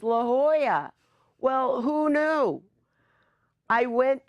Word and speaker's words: La Jolla: wanted to check out the Jolla and sure enough I loved it come to find out the way you're supposed to pronounce that city is La Jolla well who knew I